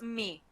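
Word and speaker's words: μι: of the letter it's mu or Mo I don't know where its game this okay we have it in modern Greek it's me me the name of the letter all right let's hear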